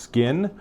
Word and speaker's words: XKIN: I'm going to say it's just pronounced Skin.